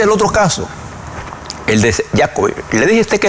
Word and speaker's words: Djokovic: Entonces, el señor Djokovic escribe, Djokovic, así que se pronuncia. Djokovic.